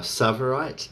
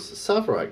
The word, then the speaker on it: tsavorite: They are tsavorite and uvarovite. Tsavorite is spelled Tsavorite, Tsavorite, and Uvarovite is spelled Uvav.